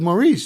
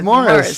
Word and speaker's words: Maurice: Because I heard D&H, Bill Merchant call him Morris, and I was like, I thought it was Maurice. He's like, aha, it is, but it's pronounced Morris.